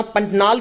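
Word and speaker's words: Pantanal: इसका प्रोनाउंसिएशन आप देख लेना, पंटनाल करके इसको बोलते हैं।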